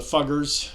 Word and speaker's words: Fuggers: people like the Medici in in Italy the fuggers and yes that's how you pronounce it in Austria and the Rothschilds now